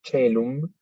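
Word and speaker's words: caelum: Fíjense que tenemos 2 diptongos, AE, OE, que en el latín eclesiástico se pronuncian E ambas. Entonces, tenemos en el primer caso el ejemplo celum y en el segundo penas.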